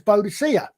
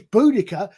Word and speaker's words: Boudica: lot of trouble and her name was bodacia nowadays it's which is boudica because Karen scholarly examination I believe that's probably how it would have been pronounced things change as we